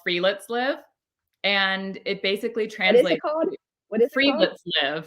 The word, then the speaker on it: Friluftsliv: It's called Friluftsliv, and it basically What is it translates called? What is it called? Friluftsliv. It's spelled Friluftsliv.